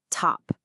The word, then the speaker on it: top: Take the word top. The ta is right at the beginning of a stressed syllable, so it gets that puff of air.